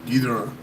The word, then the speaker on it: Ghidorah: I was like, it's Ghidorah, but I think the technical right way you pronounce it, if we're gonna respect the Japanese people, is Ghidorah, like Gojira, Mosara.